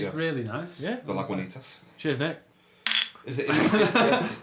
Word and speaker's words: Lagunitas: Last week I pronounced Lagunitas wrong, even though it's spelled phonetically on the bottle. And I mentioned last week it was spelled phonetically on the You bottle. did, yeah. But it's actually Lagunitas.